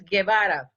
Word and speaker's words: Guevara: Did I mispronounce that name? Yes, it's Guevara.